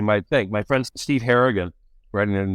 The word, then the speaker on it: Harrigan: The title page said Stephen Harrington, not Harrigan.